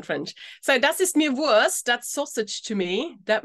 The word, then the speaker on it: Wurst: The pronunciation is not only Wurst, but Wurst. The ST pronounced like a sh.